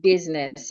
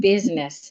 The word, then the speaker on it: business: makes the a sound well we have the word business in the word business the I is silent business asides that letter I